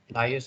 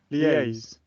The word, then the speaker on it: liaise: So the correct pronunciation of this word is liaise, not liars. Okay? It is not liars. So please correct your pronunciation because 99% of Malaysians will pronounce this word as liars.